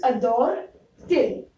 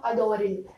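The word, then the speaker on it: adore-t-il: It becomes adore till. If you do not place the E, it will become adoril. And that is not a very smooth pronunciation.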